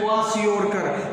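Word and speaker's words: kwashiorkor: इसका प्रोनाउंसिएशन है क्वाशियोरकर।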